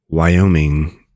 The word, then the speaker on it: Wyoming: is y o Ming Wyoming Wyoming you now know how to pronounce Wyoming not Wyoming Wyoming it's like y o Ming y o Ming Wyoming you know how to